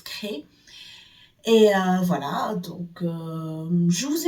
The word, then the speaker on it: Crest: Elle s'écrit Crest, mais ça se prononce Cré.